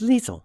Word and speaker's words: Liesel: right now shall we my name is Liesel rhymes with weasel and obviously that doesn't